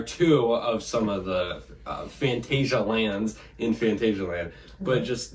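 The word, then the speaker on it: Phantasialand: some people are like if you want to give the more German pronunciation it's Fantasia land or something Fantasia land or whatever so some people say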